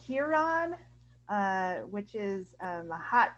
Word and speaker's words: Huron: in a town called huron uh which is a hot town uh because people mispronounce it urine on purpose um yeah i live